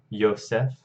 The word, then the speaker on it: Yosef: yosef my name of course in English we go through German which transliterate zwei sounds into J's but still pronounce them as wise and then in English we pronounce them as J so we say but Yosef okay Leah Leah my ode